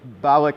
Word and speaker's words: Balak: And so, and it's Balak is how you say his name.